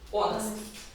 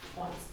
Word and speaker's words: honest: Honest. H is not pronounced. Because it's a H. Honest.